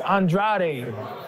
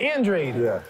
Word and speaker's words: Andrade: Capo ver right yeah in my country they pronounce my last name as Andrade and so when they see me Andrade that sounds pretty sexy to me right and in America is pronounced Andre so I get it